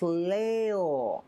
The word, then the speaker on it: Leo: glorious most venerable agent is written with the kanji of lion to be sure but it's pronounced leo i wonder you're impressed